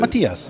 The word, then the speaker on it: Mathias: Is it Mathias? Do I pronounce it? Matthias.